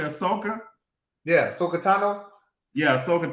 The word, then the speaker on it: Ahsoka: Ahsoka?